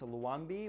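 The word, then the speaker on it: Luanvi: I recently found out that I've been pronouncing this manufacturer wrong. It's Luanbi or Luanbi from the Spanish era of Valencia.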